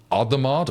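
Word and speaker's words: Hadamard: in like matrices, but they call it adamard or had if I'm not going to do the French pronunciation. So the hadamar thank you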